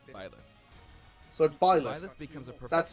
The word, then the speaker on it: Byleth: So Byleth. Byleth becomes a professor That's the actual who ends up leading one pronunciation.